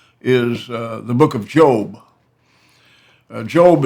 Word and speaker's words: Job: the Book of Job job is spelled like job but it is the Book of Job there was there's a